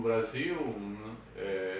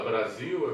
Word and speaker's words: Brasil: A palavra Brasil é bem representativa disso, quer dizer, se fala com som de Z, mas se escreve com S, né?